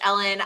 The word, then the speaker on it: Ellyn: oh so I'm coach Ellen everywhere um note that my first name is spelled weird so it's e l l y n but I'm coach Ellen everywhere like if you want